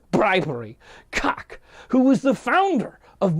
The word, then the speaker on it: Calk: And that's spelled C-A-L-K. I believe it's Calk, right?